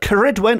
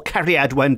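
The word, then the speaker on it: Ceridwen: witchy connections nowadays but karidwen or Carrie Edwin depending on how you want to spell and pronounce it it's a very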